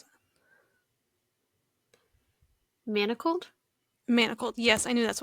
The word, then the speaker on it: Manacled: Um how do you pronounce the Hermione and Draco book? Manalist?